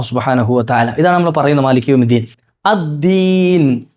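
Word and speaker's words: الدين: ഇതാണ് നമ്മൾ പറയുന്നത് മാലിക്ദീൻ അദീൻ അദീൻ അത് പലപ്പോഴും തെറ്റിയിട്ട് തായി ദീൻ പറയാറുണ്ട് പല ആളുകളും മാലിക് ദീൻ ആയി പോകാറുണ്ട് ദീനാണ് ദാലാണ് ദാൽ ദാൽ ഉച്ചരിക്കേണ്ടത് എവിടെ നാവിന്റെ അറ്റം നാവിന്റെ തുമ്പുവശം എവിടെ തട്ടണം മുകളിൽ പല്ലിന്റെ എന്താണ് മുളച്ചു വരുന്ന ഭാഗത്ത് തട്ടണം ദാൽ ആ ഒരു എൻഡി ഉണ്ടല്ലോ പല്ലിന്റെ എൻ് അവിടെ തട്ടണം ദാൽദാൽ മാലിമിദീൻ മാലി യൗമിദീൻ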